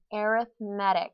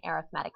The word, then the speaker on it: arithmetic: the same then we know that it's an arithmetic sequence now you've seen this word before but